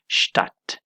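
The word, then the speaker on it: Stadt: ځای کې اکثره وخت دا D چې ده دا سایلنت وي، یعنی نه تلفظ کیږي. د مثال په ډول سره شتات د دې تلفظ دی، دا تلفظ کیږي شتات، یعنی په دې ځای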